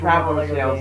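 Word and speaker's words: Traveller's Tales: Traveler's Tales.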